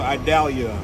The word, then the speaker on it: Idalia: tomorrow so I'm gonna drive right there until idalia that's how you pronounce it so I died and pretty much